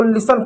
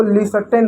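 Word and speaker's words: listen: लिसन इसको लिसन पढ़ते हैं। कुछ बच्चे इसको लिसर्टेन बोलते हैं। नहीं है टी साइलेंट होता है क्योंकि एस टी इ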